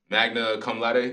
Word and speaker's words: magna cum laude: Magna cum laude, that's how you say it?